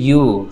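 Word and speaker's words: 夕: এমনি শব্দটার অ্যাকচুয়াল উচ্চারণ হচ্ছে ইউ, শব্দটার অ্যাকচুয়াল উচ্চারণ কি ইউ।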